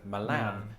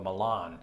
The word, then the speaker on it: Milan: is about this entry brits and americans can't even agree on how to pronounce the italian version of the city with brits like me saying milan and americans usually opt in for milan so when it transpired